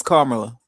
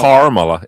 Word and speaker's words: Kamala: I mean, her name is Kamala. It's not Kamala. It's Kamala. Kamala.